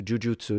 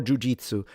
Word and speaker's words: jujutsu: I love jujutsu or jujitsu. Believe it or not, they're both correct pronunciation in Japanese, but no one in Japan says jujutsu. I can say that because I lived in Japan. No one. They say jujutsu in Japan. So that or jujutsu like the pitch is a different matter.